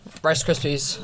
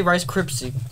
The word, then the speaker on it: Rice Krispies: okay ready three two rice krispies rice crepes i for some reason i always say rice cripsy okay right rice gypsy